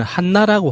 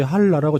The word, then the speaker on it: 한라: 조국이라는 그게 북한 측 표현되려면은 한나라고 하잖아요. 그래서 처음에 그 제목을 봤을 때 순간적으로 못 알아봤어요. 한나? 한나가 무슨 말이지라고 생각했는데 생각해보니까 그게 한라산을 말하는 북한식 표현이더라고요. 현송월 단장도 노래 부를 때 한라라고 정확히 발음하더만요.